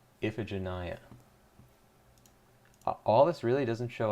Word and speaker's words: Iphigenia: Oh, apparently, how to pronounce Iphigenia. Iphigenia. Iphigenia.